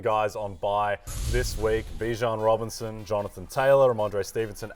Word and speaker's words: Bijan: How you pronounce my name is Bijan. Okay. Like, that's how you say my name. But I say Bijan.